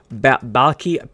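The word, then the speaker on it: Baalke: Jaguars general manager Trevor Balky, I believe is how you say the name, said, quote, "Our objectives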